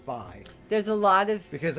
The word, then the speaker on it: Fi: of saying that the Japanese term, or wherever it came from, that it comes off sounding more like Fi. so it's Phi, and I was saying Fee myself, so now I'm going to say Phi from now on.